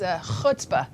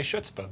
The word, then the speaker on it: chutzpah: I like his chutzpah. Oh, I was going to say schutzpah, but apparently I don't know how to say it.